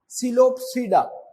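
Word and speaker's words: Psilopsida: सिलोपसीडा, पी इसमें silent है, ये याद रखना कि ये पी साइलेंट है।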